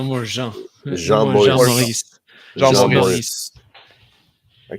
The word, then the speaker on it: Maurice: Maurice. How do you say it? Maurice. Morris. Yeah. Morris.